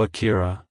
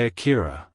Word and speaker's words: Akira: and popular in English-speaking countries it's pronounced as Akira Akira Akira to pronounce it correctly emphasize the first syllable a follow by a soft key and ending with a quick raw like hello Akira goodbye Akira if you found the video helpful hit the